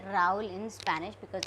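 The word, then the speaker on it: Raúl: Rahul, we say Raul in Spanish because H is silent.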